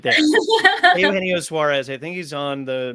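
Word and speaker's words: Eugenio Suárez: Roger replied to us and said, "What has been the hardest name to pronounce?" Oh, Eugenio Suarez. See, I even stumbled over right there. Eugenio Suarez.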